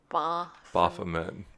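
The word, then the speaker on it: Baphomet: you say it then I would give the a more of a a sound like bah-bah Furman like kind of like a sheep but we can make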